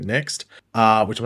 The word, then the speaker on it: NXT: says Network debut so they have WWE next I think that's how you pronounced it not NXT but next uh which I'm not